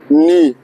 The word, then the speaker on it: knee: Knee, wus daga. Knee in this year talabuz daga knee talabuz ki jaba daga k silent to knee getna zanguna.